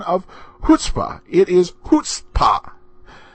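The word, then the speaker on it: chutzpah: of hutzpah it is hoota the CH is pronounced like the H and I know I probably said chut a few times now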